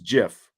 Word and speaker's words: GIF: like I I need I like the hard G yeah yeah Vince Vince is going soft G I am I I don't know why maybe others choose Jiff I like peanut butter